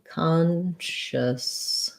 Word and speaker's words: consciousness: word here today so consciousness has first syllable stress so the letter o is going to say the ah sound um letter o often when it's stressed says ah khan this is a strange